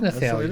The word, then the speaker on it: Nathalie: That's or did he spell it wrong? It is Nathalie.